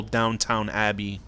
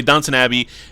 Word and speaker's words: Downton Abbey: down downton abbey which i would always call downtown abbey before i realized no who cares call it downtown but anyway downton abbey and i he left the show to become